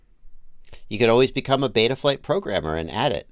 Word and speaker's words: Betaflight: We're going to use the European pronunciation. Betaflight. Not the American pronunciation. Betaflight. Americans like our mouths to be open when we talk.